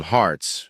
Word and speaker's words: harts: They used to call them harts. You spell it like heart but without the e, pronounced the same though.